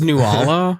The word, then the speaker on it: Nuala: Nala? I don't know. Nibadabada. It's Nuala, I think is how you say That it. one. Okay. Yes. Koala. Okay. No, Lady not Koala.